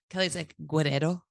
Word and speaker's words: Guerrero: just turned right on Guerrero Street I mean you mean Guerrero Guerrero did you roll your ass this is